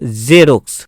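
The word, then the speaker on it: Xerox: যেমন এক্স ই আর ও এক্স, জেরক্স। তো এখানে জেরক্স বলবো না, জেরক্স, জেরক্স। তো জ, জ, জ উচ্চারণ হবে, জ।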